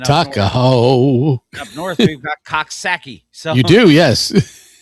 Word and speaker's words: Coxsackie: Up north, we've got Coxsackie. So You do, yes. Although I believe they pronounce it Cooksaki.